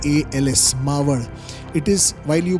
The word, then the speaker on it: Maval: Mau. It is while you pronounce in English it is mal but in marati we call it as m.